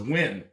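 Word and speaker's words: Nguyen: she was dant but her last name was was win right which is spelled like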